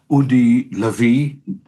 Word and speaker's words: Udi Lavi: We are very, very privileged, I would say, to host Udi Lavi. By the way, this is how you pronounce his name, and very rightly.